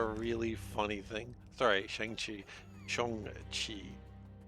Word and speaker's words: Shang-Chi: Shang-Chi. Pronounce it correctly.